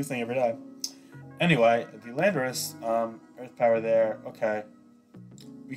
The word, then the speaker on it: Landorus: Well, it's actually not pronounced Lorandorus, surprisingly. But hey, new thing every day. Anyway, the Landorus, Earth Power there.